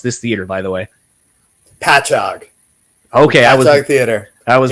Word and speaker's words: Patchogue: here, which, by the way, how do you pronounce this theater, by the way? Patchogue.